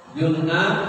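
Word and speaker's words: جُنَّة: Junnah, benteng. Diperbaiki bacanya junnah. Ada jannah, ada jinnah. Junnah, benteng. Jannah, surga atau taman. Jinnah yaitu jin.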